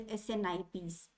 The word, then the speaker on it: SNP: Okay, abbreviated form is SNP, and pronounced as SNPs. They are also called as SNIPs.